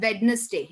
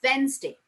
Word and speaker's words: Wednesday: Many people say Wednesday. It is not Wednesday. It is Wednesday. D is silent.